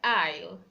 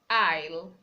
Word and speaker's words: aisle: You don't pronounce letter S when it comes before L. For example, we have words like aisle, aisle.